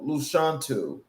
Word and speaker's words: Lashawnte: My name is um Luchantu from the womb to the woman. So that is the phonetic way of saying my name.